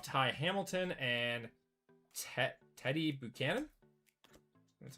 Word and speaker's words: Buchanan: Got a refractor of Tai Hamilton and Ted Teddy Buchanan.